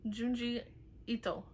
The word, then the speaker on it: Junji Ito: Is it Gio? Is that how you pronounce it? Junjito. By. What? Juni? Junji. Junji Ito.